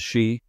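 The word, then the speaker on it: 四: In Japan, number 4 and the word death are both pronounced as shi.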